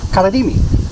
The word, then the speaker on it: Karaim: And before I came here, I started learning about, I can't pronounce it, the Karaim? Karaimi.